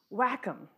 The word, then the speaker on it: WACCM: He said the whole atmosphere community climate model has to be pronounced as WACCM.